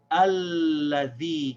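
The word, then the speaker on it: الذي: Same situation, but we have the word alladhi. See here, the Hamza al-Wasl is the first letter, so we're pronouncing it. We're going to say alladhi. Here we have a dhal, so we say the alladhi.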